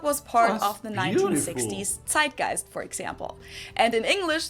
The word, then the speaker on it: Zeitgeist: some other languages too Americans usually say Zeitgeist in German we pronounce it TI gist and this consists of